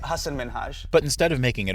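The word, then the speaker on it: Hasan Minhaj: And it's Hassan Minaj. Yes. No. Really? Well, my name is Hassan Minaj.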